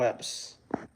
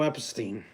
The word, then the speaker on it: Epstein: Theo Epps. Theo Epstein. I kind of said his last name wrong.